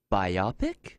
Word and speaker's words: biopic: He said it rhymes with myopic, Really? and it's not myopic. I don't know. Anyway, so It's biopic.